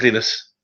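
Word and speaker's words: Linus: lenus lenus lenus lus well no he pronounced it lenus yeah um he's finish Swedish um you know in the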